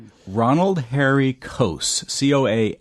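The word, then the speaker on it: Coase: Ronald Harry coast co a s e British economist and author uh Nobel Memorial Prize in economics and sciences in 1991.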